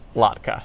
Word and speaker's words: latke: like it a lot go latke not like latte um so that's pretty